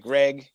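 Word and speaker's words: Graig: Well, his name's Greg, right? But the way it's spelled, everybody calls him Craig. Yeah, because it's spelled it's Greg, right? Yeah, it's Greg. But it's spelled like Craig.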